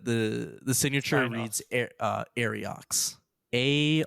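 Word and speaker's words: Ariox: so the the the the signature reads uh arox a r IO X arox wrote the letter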